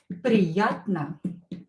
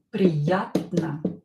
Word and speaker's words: приятно: O is not stressed. Pronounce it as A. Приятно.